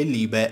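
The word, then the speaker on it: Liebe: e decine di volte, vi dico che Libe è la pronuncia corretta, grazie a chi me l'ha fatto notare fino ad ora.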